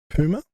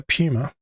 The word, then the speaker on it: puma: There's two ways you can pronounce this, puma and puma. I prefer puma.